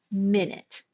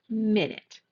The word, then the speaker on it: minute: And we're going to stress the first syllable of this word minute. Minute, which is a unit of time, 60 seconds.